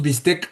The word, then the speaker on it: bistec: ¿Han oído este este esta pequeña historia que se dice sobre por qué nombramos bistec al bistec?